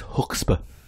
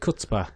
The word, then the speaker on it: chutzpah: It's chutzpah. Is it? Well, I pronounce it chutzpah.